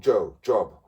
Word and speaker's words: Job: and this man called Job. It's spelled J-O-B. J-O-B. It's Job. Because it's Job, because it's days of the Hebrews.